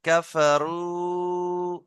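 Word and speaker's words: كفروا: তাজিমুর ভাই কাফারু ফাটা টান দেবেন না রুটা টান দেন কাফারু হামজালাম হামজা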